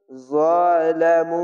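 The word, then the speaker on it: ظلموا: মিম দোজের Ming, কওমিন যালামু, চিকন চিহ্ন মাদ্দা আরজি, তিন আলিফ টেনে পড়বেন। জ জবর জ, মোটা অক্ষর, আকার উচ্চারণ হবে না।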